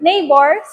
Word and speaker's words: neighbor: It's because the word neighbor comes from Old English neighbor, near plus dweller. The G was originally pronounced like hard H, but became silent over time.